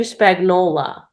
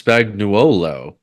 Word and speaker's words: Spagnuolo: Whose name is Spagnola. Not even Spagnolo or Spagnoli. It is straight up my last name, isn't it? No, it's Spagnuolo, but it's everyone pronounces No, it no, no.